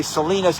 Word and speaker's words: Salina: is a Salina Kansas there's a Salinas California so that's why I keep mispronouncing it but here they call it Salina Kansas I think I